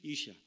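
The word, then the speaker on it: אשה: 성경 창세기에서 남자라는 뜻을 가진 말로서 사용된 히브리 원어의 단어는 이쉬입니다. 이쉬. 그리고 하나님이 그 여자의 손을 잡고 아담에게 왔을 때 아담이 그 사람을 보고 여자라는 의미로 사용한 히브리 원어의 단어는 이샤입니다. 히브리에 익숙하지 않은 사람들이 듣기에는 거의 발음조차 똑같은 말처럼 들리기도 합니다.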